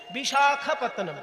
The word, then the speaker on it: বিশাখাপত্তনম: আসলে ভাইজাগ তো নয়, কথাটা হচ্ছে বিশাখাপত্তনম। বিশাখা, বিশাখা নয়, ক্ষয় আকার হবে না, শুধু খ।